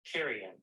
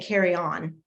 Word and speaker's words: carrion: It's pronounced careen, which is really odd because it doesn't look like it's spelled that way. Carrion. Oh, no, just kidding. Carrion. Carrion. I was saying carry on, but carrion.